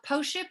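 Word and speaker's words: Pošip: do with it so postship is the grape it's spelled p-o-s-i-p but the s with the the little accent over it is a sh so it's post-ship um it is made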